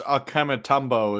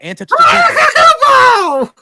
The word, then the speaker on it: Antetokounmpo: Giannis Akematumbo is coming back for another match.